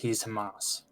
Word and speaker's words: Hamas: So he's Hamas. Palestine. Oh, okay. Yeah. I always pronounced it as Hamas.